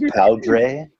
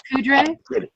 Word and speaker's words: Poudre: I believe it's pronounced Powdre. Oh, Powdre, right? Poudre.